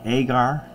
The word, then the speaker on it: agar: we can't break down auger now some say agar I was in many labs and everybody I know pronounced enunciates it as auger so anyhow I guess